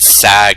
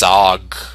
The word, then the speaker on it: Sog: Okay, apparently I've been pronouncing it wrong. It's not Sag, it's Sog.